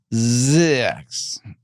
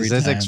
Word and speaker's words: Zzyzx: Let's hope I could pronounce some of this stuff. Zix, the alphabetically last town name in the United States of America, is located in this state.